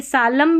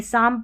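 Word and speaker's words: psalm: और यहाँ पर देखिए साम है, ये सालम भी नहीं पढ़ेंगे, साम पढ़ेंगे। L भी साइलेंट है, P भी साइलेंट है, ठीक है।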